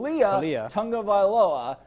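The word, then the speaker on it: Taulia Tagovailoa: Pronunciation is tough. It's what is it? Talia Tungavailoa.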